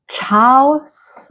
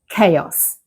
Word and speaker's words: chaos: A lot of learners see the beginning and want to say things like chaous or taous, but the correct pronunciation is chaos.